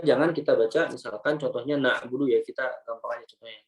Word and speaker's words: na'budu: Aiman Nusriswet menyampaikan bahwasanya kesalahan yang pertama adalah kita membacanya dengan suara yang tidak jelas ya sehingga mirip dengan huruf alif yang dibaca tebal. Ya, contohnya na budu, na budu. Iyyaka na'budu, na'budu. Ya harusnya na'budu, na. Ya, tapi kita bacanya na'budu, na. Ya, jadi kayak alif lah intinya. Ini kesalahannya. Yang pertama, ya suaranya tidak jelas sehingga mirip dengan alif.